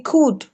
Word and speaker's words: could: Yes, so the L is not, the L is absorbed in the pronunciation. I know that there is this tendency to say would, should, could, and all of that. Yes, but it's not pronounced.